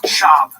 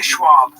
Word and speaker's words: Schwab: It's Shab. Don't say Schwab. I'm saying it wrong.